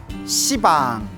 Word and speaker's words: 시방: 공간을 가리켜 시방이라고 하는데요 원래 한문으로 쓰면 십자의 방위 방자 그래서 원래는 빵입니다 십빵데 십빵 하면 좀 너무 욕 같지 않습니까 발음이 너무 억세 가지고 이제 방이라고 표현을 합니다 모든 공간이 우주의 모든